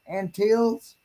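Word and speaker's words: Antilles: located in the greater a-n-t-i-l-l-e ever how you pronounce that and teals region jamaica is the smallest of the four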